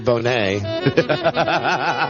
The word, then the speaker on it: Bonnet: Bonnet. It's the French pronunciation of his word, of his name, the word Bonnet.